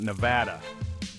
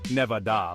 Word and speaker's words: Nevada: casinos scorching deserts and a state name that often gets an extra syllable it doesn't need we're talking about Nevada now you might be tempted to say Nevada like you're adding a